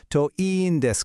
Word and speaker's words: といいんです: For your own personal hopes, the phrase you need is to iin desu ka, pronounced to iin desu ka.